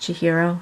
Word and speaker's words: Chihiro: I think it's pronounced Chihiro. That's how it's spelled anyway.